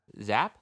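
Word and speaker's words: Giap: if I miss zap zap of all things so folks it's spelled g a p zap because I've been watching the Vietnam War it's zap um yeah I'm gonna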